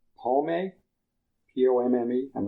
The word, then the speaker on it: pomme: p o m m e I'm not sure how you pronounce that.